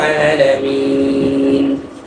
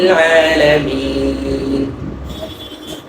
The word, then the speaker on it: العالمين: রব্বিল রব্বিল আলামিন আলামিন অনেকে এটাকে আলামিন আলামিন এভাবে পড়ে এটা কি ইস্তিআলার হরফ না ইস্তিফালের হরফ ইস্তিফালের হরফ তো যদি পড়ি আলামিন